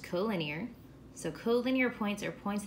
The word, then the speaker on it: collinear: extra definitions here so this is pronounced co-linear so collinear points are